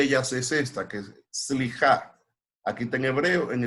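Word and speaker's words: סליחה: Pero en hebreo, una de ellas es esta, que es slijá. Aquí está en hebreo, en español, y ahí está cómo se pronuncia. Slijá, que es perdonar.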